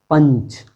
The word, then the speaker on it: पंच: जैसे देखिए पंच, इसी में हम अगर पंच कहें तो पंच में इया, आधा इया, इस तरह से पंच, ये अनुस्वार का उच्चारण यहाँ बदल जाता है।